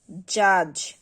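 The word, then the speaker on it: judge: বাজেট, বাজেট, bridge, bridge, জাজ, জাজ, হেজ, হেজ, ব্যাজ, ব্যাজ, plays, plays.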